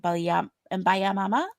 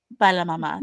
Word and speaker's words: Baila Mama: Funambulista, and Miranda and Baya Mama or Baila Mama. You don't pronounce the Y. Y'all, I don't speak Spanish. Bella If you Mama. don't know this about me, Baila Mama.